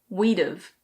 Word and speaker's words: we'd've: We would have becomes we'd've. We'd've.